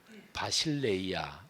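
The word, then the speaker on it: βασιλεία: 근데 교회가 에클레시아인데 하나님의 나라는 바실레이아 이렇게 발음합니다. 에클레시아 바실레이아 이게 헬라어 발음이기도 해요.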